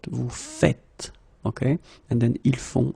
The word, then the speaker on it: vous faites: it like that and it's not vous faisiez but vous faites.